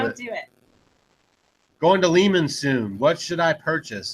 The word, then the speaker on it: Lehman's: If you guys don't know, Lehman's is actually the correct pronunciation.